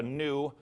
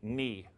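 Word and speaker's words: ν: Okay, some pronounce it a mu, some pronounce it a nu. I learned it from a German, so I got a little umlaut on mine. I learned me, ni.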